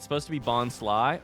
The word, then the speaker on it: Bonsly: It's supposed to be Bonsly. Oh, like Bonsai. That makes sense. Is that a Bonsley?